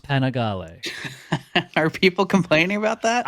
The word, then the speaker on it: Panigale: And because I know some people can't take a joke, I know it's pronounced Panigale.